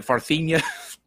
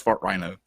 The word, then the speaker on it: Fart Rhino: I'm trying to pronounce this like Farthenia. It's just Fart Rhino.